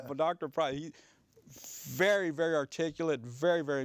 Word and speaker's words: Preuss: I said, how'd you end up with a name like Price? And the way it's spelled, Preuss, so it's a German name, but Dr. Price, very, very articulate, very, very intelligent man.